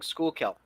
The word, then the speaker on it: Schuylkill: to stand by and that is the correct way of spelling School kill yeah yeah that's not what I would have pronounced it as so good to know